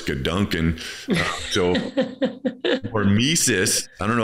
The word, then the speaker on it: Gedanken: In your book, you have this word, and I mispronounce Gedanken, and it's now I know it's Gedanken.